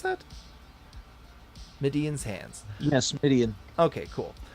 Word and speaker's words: Midian: Is that how you pronounce that? Midian's hands."